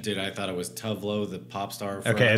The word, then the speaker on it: Tuvalu: Tuvalu. Tuvalu. So Tuvalu, Tuvalu, Tuvalu, or Tuvalu. Which one do you think is the correct of this place? The correct pronunciation? Dude, I thought it was Tuvalu, the pop star.